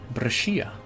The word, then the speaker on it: Brescia: The Skia part is pronounced like Shia. Brescia.